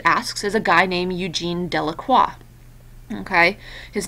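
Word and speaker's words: Eugène Delacroix: is a guy named Eugene delaqua okay his name is down here Eugene delaqua okay you don't really pronounce the X and so he painted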